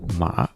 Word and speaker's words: 马: Also the Chinese character of the horse, Ma, that's how they say it.